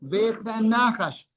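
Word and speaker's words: וְהַנָּחָשׁ: Behanahas se pronuncia como uno solo. Beanajas.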